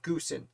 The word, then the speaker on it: Goose: albany new york and that ancestor also pronounced their name goosen so i am going to pronounce his name goosen as best i can though it looks like goose to me and if i slip